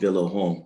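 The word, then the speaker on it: Vyllahome: this little group called villa home so it's spelled v-y-l-l-a-h-o-m-e they're located yes yes villa but that's a unique way of sometimes branding itself it's just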